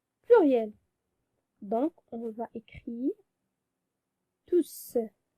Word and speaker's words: tous: Il ne faut pas prononcer le S parce que on a dit on prononce S de tous lorsqu'il est placé devant un verbe. Et les hommes, c'est un nom. Donc, on prononce tout sans prononcer S.